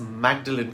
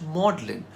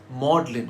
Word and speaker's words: Magdalene: So it should be pronounced as Magdalene College, right? Wrong! Apparently in the late Middle Ages, when the colleges were founded, Magdalene was pronounced Magdalene. So it's Magdalene College.